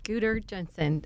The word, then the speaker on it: Guder Jensen: Is that how I pronounce that? Yes, Guder Jensen.